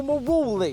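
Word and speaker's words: Marouli: Here's my chat with Michael Maroli. Michael Maroli. I can't say it like Ru says it, can you? Michael Maruli. Michael Maruli. I'm saying Marowley. There you are. Like it's some kind of pasta. Sounds lush though, doesn't it?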